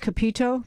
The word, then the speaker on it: Capito: But at a deeper level, there was a statement by Senator Shelley Moore, and I believe it's pronounced Capito.